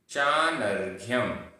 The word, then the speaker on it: चानर्घ्यम: किम किम चानर्घ्यम चानर्घ्यम। यहाँ पर आधा घ और य, फिर उसके ऊपर रेफ और बिंदी, ये सब है। चानर्घ्यम। ना, जब रेफ का उच्चारण होगा तो आगे होगा, ना के बाद।